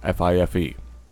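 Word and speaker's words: fife: ] leaves on it five phonetically is flyff fi Fe and nine is nine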